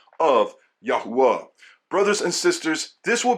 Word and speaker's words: Yahuwah: In this book, I will prove that the pronunciation is Yahwa.